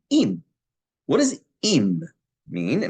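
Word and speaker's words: עִם: Am is spelled Ayin Mem. The same word with instead of an A patach, a chirik, an E, is im.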